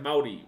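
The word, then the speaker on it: Māori: You can get a pass if you say Maori, but it's pronounced kind of with a D, right? That's why you hear me say like Maori, right? It's like they roll the R into a D.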